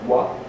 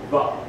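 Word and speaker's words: ו: The next letter there is Wow, pronounced like wa, as in water.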